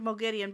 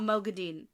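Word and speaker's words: Moghedien: all free and also correct pronunciation of Mogan by the way in the show madian yeah Mogan not madine yeah even though the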